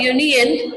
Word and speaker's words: union: A union, not an union, because university and union are pronounced with a Y, the consonant sound.